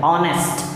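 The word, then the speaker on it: honest: तो देख लीजिए यहाँ भी नाउन आया है, राम की ईमानदारी, ईमानदार को कहते हैं ऑनेस्ट, एच ओ एन ई एस टी, ऑनेस्ट नहीं, एच साइलेंट है, ऑनेस्ट, और यहाँ पर राम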